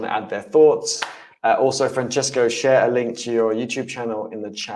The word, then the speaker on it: Francesco: think LinkedIn has something like that how to pronounce your name yeah my name is Franchesco but some people of course they don't pronounce